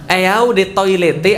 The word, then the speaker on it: Eau de Toilette: Eau de Toilette artinya adalah eau de toilet bacanya.